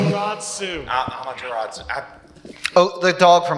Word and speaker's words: Amaterasu: So we haven't talked that much about Amatsumaru. Thank you for the pronunciation. Amaterasu.